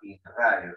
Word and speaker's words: inradio: a llamar de radio Se escribe igual R, pero se pronuncia ahora in radio.